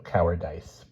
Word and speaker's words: cowardice: be shot for cowardice which he pronounced in the military manner to rhyme it with mice so cowardice in short he was